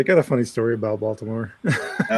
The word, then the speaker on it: Baltimore: So, I'm so I'm located in uh Balmer, Maryland. I say Balmer because that's uh that's how we say Baltimore. Yeah. Baltimore is a proper pronunciation.